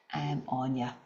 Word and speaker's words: Áine: you can see here, the spelling of my name, Áine, can be quite difficult to pronounce because it's an Irish name, and that's how it's pronounced, Áine.